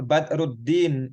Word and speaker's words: Badruddin: Ini nih Badr Aldin itu maksudnya Badruddin Az-Zarkashi. Ini kan ro sama alif lam itu maksudnya syamsiyah, tapi kalau ditulis dalam Latin jadinya begini nih.